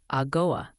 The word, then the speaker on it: Algoa: Yes, that's pronounced Algoa.